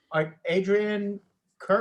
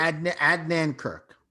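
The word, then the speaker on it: Adnan Virk: But Adrian Kirk? Adnan Kirk. There you go. I pronounced it So wrong.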